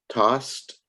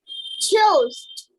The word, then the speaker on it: tossed: Tossed. TOSSED. Was that the word that I heard? Toast. TOSSED. All right. The way you pronounce that is toss. Tossed. Tossed. You said toast.